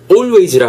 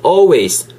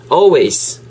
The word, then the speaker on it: always: 좋겠습니다 그죠 wrong 틀렸어요 always 아니고 바른 겨 보시도 아시겠지만가 음이고 이게가 아니고 약간 A 느낌으로 해서 always 따라해 보실래요 repeat after me always always 요렇게 해주세요 EL 무음입니다 쓸 때는 써 주셔야 돼요 쓸 때도 a w